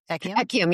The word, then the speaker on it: Ekyam: Talk about what ECU eum echium. Yes, you pronounced it correctly.